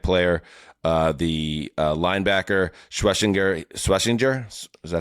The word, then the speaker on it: Schwesinger: Uh the uh linebacker Schwashinger Schwashinger, is that how you pronounce it? That's a tough Yeah, he dude. Carson Schwashinger. Schwesinger.